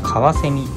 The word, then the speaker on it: かわせみ: 火水になります火水と書いてかわせみと読みますこちらもコカが